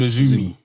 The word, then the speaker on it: AZM: And Azumi is spelled AZM, but she likes to be called Azumi.